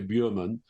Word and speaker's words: Bergman: Ingmar Bergman, they'll say, you don't want to pronounce it correctly because nobody in England will know who you're talking about. If you say Björman, it's got to be Bergman. So you have to anglicize.